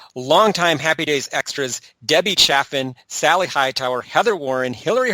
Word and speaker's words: Chaffin: Debbie's name is twice mispronounced Chafin when it's actually Chaffin.